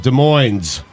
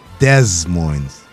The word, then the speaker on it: Des Moines: pronounce the capital of Iowa, Stugotz? Des Moines. Des Moines.